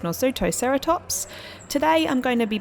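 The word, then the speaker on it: Nasutoceratops: let everyone know that i did look up how to say it correctly and i do realize that i did not say it correctly whatsoever in the last version i don't believe i said it correctly once so i do know how to say it right now it is nor sutocerotops today i'm going to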